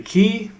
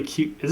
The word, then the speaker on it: Qi: For the longest time, I would say Qi, because I think it's literally Q. Is it QI? It's QI.